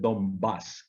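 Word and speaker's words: Donbás: dos la región del donbass que se está bombas con acento en la y con la n en vez de m delante de la vez y esto es ucrania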